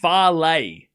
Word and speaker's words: Falei: So apparently it's pronounced farlay.